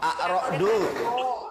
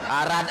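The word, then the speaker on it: الرعد: Dibacanya bukan arad. Mana ada Quran surat arad?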